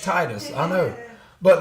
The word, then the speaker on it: Titus: cuz I didn't realize I've been pronouncing one wrong for I don't know how many episodes tetus tetus t t i t u s tetus but it's Titus apparently but I'm reading it